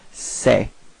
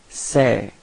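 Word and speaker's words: ces: Alright, so it's this it's open, it's okay, so don't be afraid to open your mouth, and it's pronounced like c'est. Okay, so repeat, c'est.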